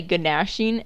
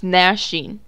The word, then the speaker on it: gnashing: to be weeping and gnashing the teeth i used to say ganashin and then my mom's like it's gnashing the g is silent and i'm like oh